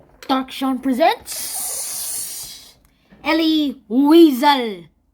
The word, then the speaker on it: Elie Wiesel: dark Sean presents Ellie weasel actually pronounced so I'll just be